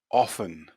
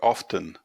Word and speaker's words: often: castle castle listen listen often often although sometimes this can be often as well often or often so